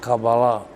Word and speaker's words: Kabbalah: of what of the Kabbalah or as in Hebrew it is pronounced Kabbalah and he wrote two